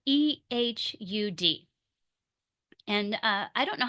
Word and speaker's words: Ehud: So that name is pronounced Ehud, Ehud. And that is not how I was going to say it.